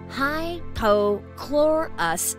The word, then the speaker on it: hypochlorous: yes that includes covid-19 it's pronounced high pochlorous acid but is also referred